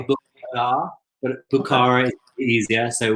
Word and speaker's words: Bukhara: So the new fragrance is called Bukhara. Am I pronouncing that right, Nick? I'm not murdering that. Yeah, I mean, we say Bukhara. They would say Bukhara, but Bukhara is easier, so we'll stick with that.